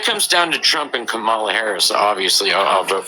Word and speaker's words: Kamala: say it again correctly comma like the punctuation mark and then love yeah that that's how